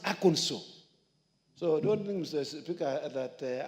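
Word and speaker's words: Arkansas: to aanso I know people call it a aners it's not called aers it's called AO in fact they passed a law on the pronunciation of aono if you say AAS they tell you no it is wrong it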